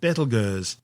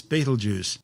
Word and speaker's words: Betelgeuse: It's a red supergiant called Betelgeuse, better known to most people these days as Betelgeuse. Don't say it 3 times. In ancient times, before centuries of mispronunciation, its name actually started out as Ibdal Yauza.